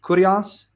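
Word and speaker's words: κύριος: Kyrios, Kyrios, Erasmian pronunciation, according to verse 4.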